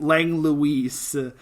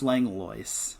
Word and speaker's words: Langlois: last name but um he was pronounced to get Lang Luis but bless that PA announcer but it is pronounced Langlois which I think is